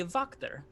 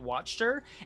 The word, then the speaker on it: Wachter: name is pronounced lady vocter uh because it's an eastern european setting and that does make